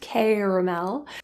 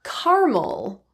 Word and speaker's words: caramel: the vowel in an the word caramel can be pronounced with a k sound caramel or carel which is actually deleting one of the syllables and separating it into two instead for some super practice